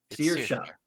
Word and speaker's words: Saoirse: Seer, There's seer like a seer, like person seer, then sha. Searsha.